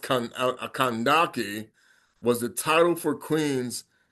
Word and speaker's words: Kandake: And her name is pronounced Kandake, was the title for queens of mothers of ancient kingdom of Kus.